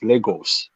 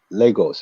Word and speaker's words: Lagos: and uh you know the proper pronunciation of that word is Legos people don't pronounce that word right Legos it's a Portuguese it's